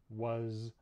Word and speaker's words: was: So, for example, we have some common words like is, was, hers, and his. These are all spelled with S, but we actually pronounce them with a Z sound in English.